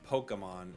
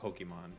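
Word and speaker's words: Pokémon: If we're gonna pick, if we're gonna nitpick pronunciations, it's Pokemon, not Pokemon.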